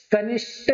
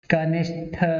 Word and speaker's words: कनिष्ठ: कनिष्ठ नहीं होता, क्या होता है? कनिष्ठ होता है, ठठेरे वाला आता है, यानी कि टा